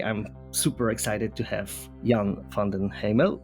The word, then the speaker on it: Jan van den Hemel: super excited to have young fondant Hamill and what am I pronouncing that yes yes perfect that's great I'm not